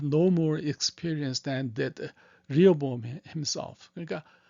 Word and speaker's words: Rehoboam: 요 사람들 말, 두 번째 읽으면 these young men had no more experience than did Rehoboam himself. 그러니까 르호보암보다 영어로는 리어보암이라고 읽어요. 리어보암.